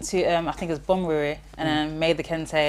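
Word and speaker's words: Bonwire: Went to I think it was Bomuri and then made the kente. Sorry, it's Bomuri. Oh, my bad. Anyway, that's how you say it. You need to say it properly.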